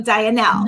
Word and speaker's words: Dianelle: I knew it because it spelled like Diane and then L, right? So Dianelle. Yes.